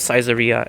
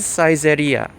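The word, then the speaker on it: Saizeriya: I love caiseria in Japan. I should be saying caeria. I just accidentally said the English pronunciation of it.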